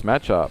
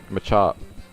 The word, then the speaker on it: Machop: And so would this Machop, actually. Machop. I know we had this discussion in the last video about how it's pronounced Machop or Machop. I'm still going to keep saying Machop.